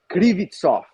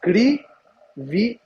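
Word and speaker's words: Kryvtsov: I figured out the pronunciation of Serhi. It's Krivitsov. He spelled it to me phonetically, so it's Krivitsov.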